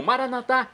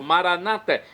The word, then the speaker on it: Maranatha: E agora eu clamo Maranatha, como dizemos nós católicos, ou Maranata, como dizem nossos irmãos separados, os evangélicos, os protestantes. Não importa a pronúncia, o significado é o mesmo.